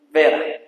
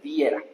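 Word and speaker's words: вера: en griego que se pronuncia bis y esto es en ruso que se pronuncia vera. No meas viera.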